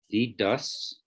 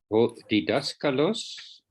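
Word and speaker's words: διδάσκαλος: Didaskalos. Yeah. If you struggle to pronounce it, just break it down into syllables. Didaskalos.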